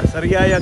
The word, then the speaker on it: Sariaya: Sariaya Quezon.